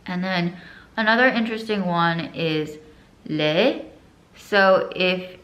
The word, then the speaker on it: aux: And then another interesting one is le. So if it's like the subject is a plural, you can't say le, you say O, but it's spelled A-U-X.